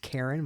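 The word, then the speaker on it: Cairn: We got a reveal trailer for a game called, I think it's pronounced Karen, but it's spelled with a C and an I instead of a and a K and an E.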